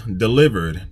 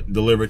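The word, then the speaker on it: Dlivrd: here and there well app number three is delivered now for those of y'all who keep asking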